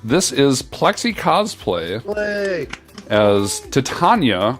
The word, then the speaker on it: Titania: is Plexi cosplay as Titania I looked up how to pronounce that from Warframe um it's not Tatiana um but Plexi made